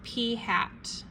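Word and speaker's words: p̂: This little p with an arrow on top is pronounced p hat.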